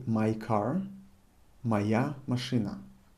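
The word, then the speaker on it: моя: we say my car maya machina i'm writing it moya however i'm pronouncing it try to pronounce the way i'm pronouncing this however as i told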